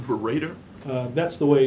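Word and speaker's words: Baradar: Robert, is that authoritative, the way you're pronouncing his name, Berater?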